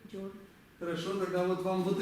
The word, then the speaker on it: སྦྱོར: Так, как он читается? Я уже прочел, зря я это сделал. Джа. Вы уверены, что джа? А вот это зачем тогда я написал? Зачем писать вот это, если оно все равно будет читаться джа в любом случае, с ней или без нее? Нет, с этой будет джо. Джо. А вот это что это? Это ра. А вместе? Джор.